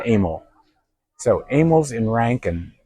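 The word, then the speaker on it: Amil's: So it looks like a but he was uh Serbian and he pronounced it amal.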